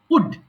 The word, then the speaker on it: would: মনে রাখবা এল এর কিন্তু উচ্চারণ হবে না, it's silent letter here, so we don't need to pronounce l in this word, so it's simply wood, শুধু উড হবে।